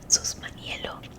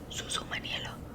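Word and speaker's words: Susumaniello: Sus Maniello. Oh my god, I keep saying it wrong. It's Susus Maniello. Susu Maniello. What was I saying? It's Susu Maniello.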